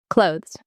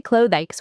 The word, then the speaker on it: clothes: Clothes. This surprises everyone. People say clothes with 2 syllables, but it's just 1 syllable. Clothes. It sounds exactly like close, as in close the door.